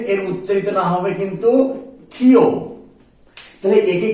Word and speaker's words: ক্ষ: তিনি কি বলেছিলেন এর উচ্চারিত নাম হবে কিন্তু খিও তাহলে একে কি বলা হবে খিও অর্থাৎ অনেকে দেখবে এই কারণে খিও উচ্চারণ করে খিও অর্থাৎ এই খিও নামটা কিন্তু